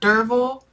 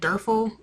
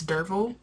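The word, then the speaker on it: Derfel: we got introduced to derville that's how you pronounce it I was pronouncing it derful while reading but it's deril okay I can you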